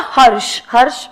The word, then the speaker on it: Harsha: In the given case, Mr. Harsh with an A. A is silent.